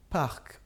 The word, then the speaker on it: parc: Parc, comme ça se prononce. C'est le son K à la fin.